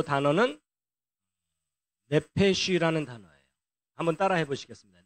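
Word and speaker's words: נפש: 예, 어쨌든 그래서 이제 영으로 번역되는 단어가 루아흐고 그다음에 이제 요 단어는 네페쉬라는 단어예요. 한번 따라 해보시겠습니다. 네페쉬.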